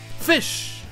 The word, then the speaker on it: ghoti: Donc, au final, ce mot se prononce en fait F-I-Ch. Fish.